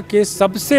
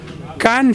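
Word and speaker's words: Cannes: कान film festival में, जिसको India में कांस कहते हैं लोग, फ्रेंच में कैन बोलते हैं उसको, क्योंकि फ्रेंच भाषा में कई शब्द साइलेंट होते हैं। तो इंडियंस को अभी कैन बोलना नहीं आया, तो वो कांस कहते हैं।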